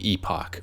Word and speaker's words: Epoch: This review will feature a chat with the board game designer Martyn F about the game Epoch, or Epic if you prefer the American pronunciation, and its origins.